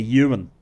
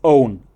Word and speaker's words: Owen: series, Andy de Emine, he couldn't pronounce Owen. He kept calling me Ewan. Right. So Ewan, when you walk out here, well, first of all, I'm not Owen, but it's Owen.